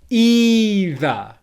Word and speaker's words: either: So let's just say it nice and slowly the first way with stress on the first syllable. Make sure you're holding it as a long English vowel sound, and let's go. ʻiː.ðə, ʻiː.ðə, ʻiː.ðə, ʻiː.ðə.